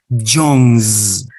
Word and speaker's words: John's: Like S or like Z? How do you pronounce it? Pronounce it. How do you pronounce this apostrophe S after John? John's or John's? Like the second sound? Aha, the second one. John's with the sound Z.